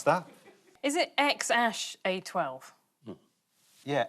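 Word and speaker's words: X Æ A-12: want to have a stab i had to pronounce that is it x-ash a-12 yeah x-ash archangel 12 musk this is what they've changed it to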